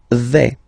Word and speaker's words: vais: The first form is je vais. Okay, so remember, final S not pronounced here. Je vais. Okay, when you combine this A, I, you get the sound E, really open.